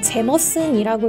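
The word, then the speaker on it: Jameson: 알려진 아이리시 스킨은 역시나 제임슨이 된데요 사실 아일랜드 식는 제머슨이라고 읽어야 맞는 표현이라고 해요 아 기중 세개 판매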